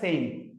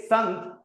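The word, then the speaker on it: saint: इसको प्रोनाउंस किया जाता है सेंट। सेंट they डिडंट से संत they pronounce is सेंट।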